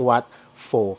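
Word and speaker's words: Wat Pho: Ito Sure na sure ako dito sa may pronunciation nito Ito naman ang Wat fo katapat na katapat naman nito ung Wat Aron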